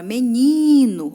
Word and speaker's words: menino: Como, por exemplo, a palavra menino. Olha só, gente, quando você pronuncia o ni, é a sílaba tônica.